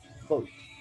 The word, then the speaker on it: Voigt: Right, so that doesn't, but you know, to really make this look good, there's a mixed Voigt profile. That's actually how you pronounce that.